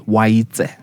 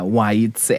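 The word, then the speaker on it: Oaitse: So the name is Waitse. Waite. Yeah, Waitse. So TSE at the end.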